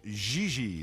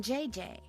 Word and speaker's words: JJ: No, I mean JJ. Welcome. Gigi. JJ. En français, you pronounce G like J and J like G. She may very well be JJ in America, but in France, she is Gigi.